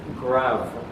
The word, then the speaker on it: grave: It's the accent grav key. Accent grav, shortened to grav. It's spelled like grave, G-R-A-V-E.